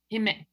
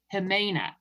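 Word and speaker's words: Jimena: Lisa hi it's wonderful but everyone says human okay wait I'm gonna practice himena yes correct yes okay got it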